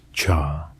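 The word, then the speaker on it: 茶: The Chinese character for tea, written as cha and pronounced cha, only appears in a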